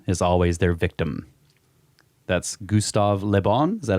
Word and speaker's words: Gustave Le Bon: That's Gustave Le Bon.